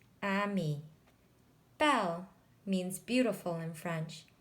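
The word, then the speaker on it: ami: words in this book Emmy means friend in French you say it like this Amy Bell means beautiful in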